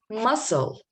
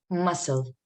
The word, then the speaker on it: muscle: Muscle. Did I pronounce C? No. Muscle.